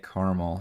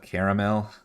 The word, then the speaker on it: caramel: I love how Americans say caramel instead of caramel.